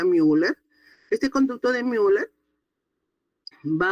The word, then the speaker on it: Müller: Y esta conducto paramesonéfrico también llamado conducto de mer u l e r mu que pronuncia müller.